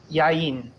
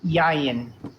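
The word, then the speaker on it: יין: go yeah I did yayin and actually right this is another instance of the accent going at the beginning of the word yayin foreign our practice assuming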